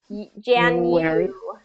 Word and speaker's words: January: January. Yeah, it has that invisible Y.